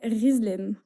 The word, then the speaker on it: Ghislaine: ouais alors du coup je m'appelle Rizlaine ok ça s'écrit Ghislaine donc un prénom assez